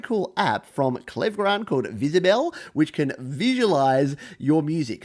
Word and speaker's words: Wizibel: so you can see firstly it's actually spelled W I said IB L you could pronounce it Whizzer Bell but visible is what it's usually known by and what it does